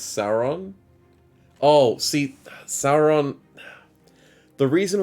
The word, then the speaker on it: Sauron: than see your name i'm just used to saying saron instead of sauron so that's why i have that problem but it's but sauron the all-seeing eye should be pronounced that way as far as i know but there's just someone